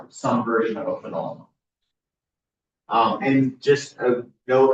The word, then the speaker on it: phenol: Um it's some version of a phenol. Um and just a note about pronunciation. We overemphasize the O part here because fennel is different.